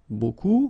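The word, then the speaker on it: beaucoup: want to use Buu buku means a lot of it look it looks a b strange B like that remember you don't pronounce the final P okay and then you've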